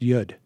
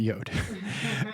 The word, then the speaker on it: Yud: First of all, I hate to be a stickler, but it's actually pronounced Yud, not Yod.